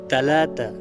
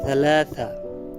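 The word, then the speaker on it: ثلاثة: তালাতা, তবে এর সঠিক আরবি উচ্চারণ হবে সালাসা। সালাসা বা তালাতা, তিন।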